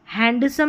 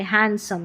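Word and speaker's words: handsome: हैंडसम नहीं बोलते हैंडसम। यहां पर भी डी साइलेंट है।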